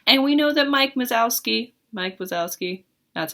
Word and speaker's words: Wazowski: And we know that Mike Wazowski, that's how you say it, he's at work,